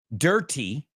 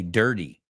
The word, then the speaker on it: dirty: I don't say dirty. I say dirty.